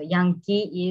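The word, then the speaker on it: Yangki: missionary school but um my name should be y a n g k i so young it's two syllable young is for um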